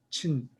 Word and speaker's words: Qin: 친, QIN인데 Q 발음을 CH 발음을 해요.